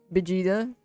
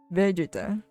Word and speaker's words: Vegeta: Vegeta. Yeah, that's how we pronounce it here. But some people call it Vegeta for some reason.